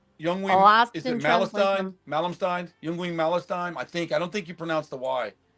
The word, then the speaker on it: Yngwie: It's Youngwing. Is it Malmsteen? Youngwing Malmsteen? I don't think you pronounce the Y. Yngwie Malmsteen, I'm pretty sure. Is it Yngwie? So you just, the Y is silent?